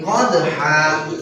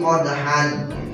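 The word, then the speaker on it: قدحا: Kemudian yang keduanya fal muriyati qadha. Awas, jangan dibaca fal muriyati qadhan.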